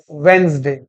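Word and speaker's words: Wednesday: क्या बोलते हैं वेडनेसडे हां ये साइलेंट होता है वेडनेसडे तो मैं मोती डूंगरी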